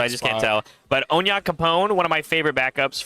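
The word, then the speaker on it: Onyankopon: I like how they say it in the anime if you watch the dub. Oh, yeah? It's Onya Capone.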